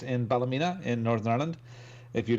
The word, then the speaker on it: Ballymena: the northern realms of Ireland in the pleasant Bella Mina mr. Robin Tate huh he asked me hi it's Robin here one with the CN I am correct the pronounced in Ballymena in Northern Ireland if you look at the